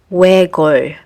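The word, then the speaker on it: 외곬: You only need to pronounce l, like in this word, which is read as wegol, which means single-minded.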